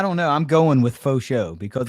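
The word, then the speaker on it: Faucheaux: because it's f-a-u-c-h-e-a-u so i'm going with that cajun type pronunciation yeah i know even though he's even though he's from ohio i'm still going with yeah i'm going to church it up a little bit and go with fosho hey it sounds nice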